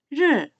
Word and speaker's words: 日: 날일자의 중국어 발음, 르, 르.